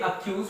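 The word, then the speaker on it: accuse: ठीक है, ये अक्यूज पढ़ा जाएगा और ये एक्वेस पढ़ा जाएगा।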